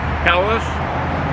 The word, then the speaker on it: Helles: It's pronounced HELLES.